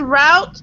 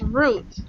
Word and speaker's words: route: Now, this word route can also be said as route, okay? The pronunciation is a little different. It means the same. So whatever you use is correct, route or route.